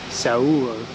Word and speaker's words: Seoul: So, first up, soul is pronounced Sao. Saul, that's how you say it.